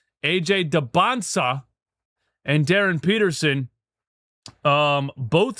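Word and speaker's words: Dybantsa: AJ Debansa, I said it right. I said it right. AJ Debansa and Darren Peterson um both seem to think they're going number one overall.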